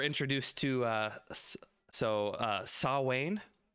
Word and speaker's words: Samhain: to uh so uh saw wayne how you say it yeah and gaelic saw wayne um and the cutest